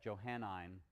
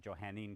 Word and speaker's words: Johannine: And we're going to call that Johannine Christianity, or some people might pronounce it Johannine Christianity. It's the same thing.